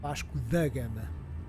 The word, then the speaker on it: Vasco da Gama: Raven B, it's Vasco da Gama, not the Gama. Vasco da Gama.